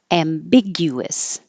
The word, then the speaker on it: ambiguous: release the C noise ambiguous ambiguous there's an invisible W here because when you say gu your lips get rounded gu and then they